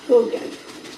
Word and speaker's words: Haugen: I actually think it's pronounced Hogan. Like Hogan's Heroes?